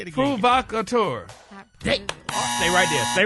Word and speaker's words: provocateur: It's pronounced, damn it, provocateur. That's what you got down here. Hey, now look, all the damn buzzes. No, say it. Break down syllables. First syllable, Pruh. P-R-U-H is pru. Pruh. Vok. Tour.